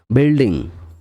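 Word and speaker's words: building: তখন এটা মনে হয় যে গিল্টি ফিল হচ্ছে বিল্ডিং মানে ভবন বি ইউ আই এল বি ইউ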